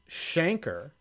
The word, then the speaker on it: Schenker: Coach Schenker, pronounced Shanker, has been arrested for drunken conduct.